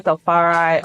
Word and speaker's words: Tafari: So basically I'm TAFARI on every platform. TAFARI is spelled TAFARI.